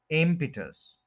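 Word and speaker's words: impetus: उन्होंने क्या वर्ड बो एम पिटस एम पिटस थ्री सिलेबल्स है फर्स्ट के ऊपर स्ट्रेस है एपिटस इसको भी आप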